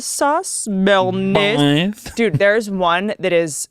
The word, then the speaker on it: Béarnaise: I'm addicted to the one that is it's salmon, asparagus, and how do you pronounce it? Béarnaise sauce? Béarnaise.